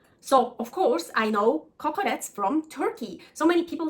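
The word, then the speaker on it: kokoreç: So here they say kukurec, well, I'm sure I pronounce it wrong. In Turkey, kokorec, here kukurec, in Greece, kokoreci.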